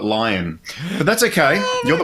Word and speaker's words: Lyon: sends you any feedbacks i think you just call it lion but that's okay you're